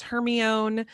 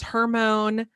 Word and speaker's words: Hermione: Like some people told us it was Hermione. Some people told us it was Hermone. Hermone. Yeah. It honestly wasn't until I don't think it was until the movies came out that I learned the right way to say her name.